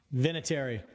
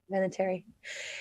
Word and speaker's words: Vinatieri: How do you pronounce his last name again, John? Vinatieri. Vinatieri.